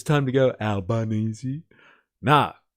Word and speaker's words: Albanese: I don't like how the AI is pronouncing. Where is it? Albanzy. It's time to go. Albanese.